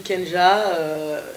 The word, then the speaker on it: K'NJAH: voila moi je m'appelle kenja alors mon 100 à apostrophes angie h parce que je sais qu'il est pas facile à prononcer et à retenir donc